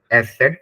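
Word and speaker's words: Eszett: य उम lout and one ligature जिसे हम एस सेड प्रोनाउंस करते हैं ठीक है सम लेटर आ प्रोनाउंस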